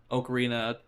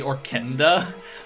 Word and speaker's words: ocarina: kid I know that I called the Ocarina or Ocarina whatever the pronunciation you prefer like I called it the orkenda for some reason I don't know where that n came from but like uh